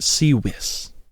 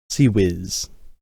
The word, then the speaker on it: CIWS: A god-awful acronym that's not even pronounced in the order that it's spelled.